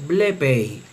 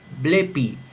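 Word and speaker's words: βλέπει: El dictongo epsilon iota en la pronunciación erasmiana suena ei, pero en la pronunciación reucliniana suena i. Por lo tanto, esta forma verbal en la pronunciación erasmiana se lee blepei, blepei, él ve, él mira, incluso podría ser ella ve, ella mira, pero en la pronunciación reucliniana se lee blepi, blepi, por el valor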